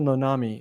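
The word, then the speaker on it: Uncle Nonamé: went on to make Uncle noname cookies uncle nonami is how he pronounced it because the company bought his brand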